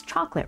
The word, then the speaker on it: chocolate: Okay, so in your neck of the woods, you say, everyone says chocolate, right? 2 syllables, even though the word looks like it has 3.